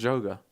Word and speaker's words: Joga: It's Joga. Who told you that? But Portuguese people. What Portuguese person? I haven't actually met any, but exactly. The Portuguese pronounce the j, like Jose Mourinho.